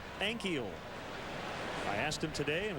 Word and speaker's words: Ankiel: is his last name we've heard ankio and keel but it's actually three syllables like ankle but add an e in the middle ankyl i asked him today